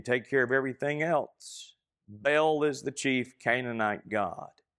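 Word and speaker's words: Baal: It's two syllables. Um it it's mentioned 70 times in the Old Testament and his name Bale means master or lord.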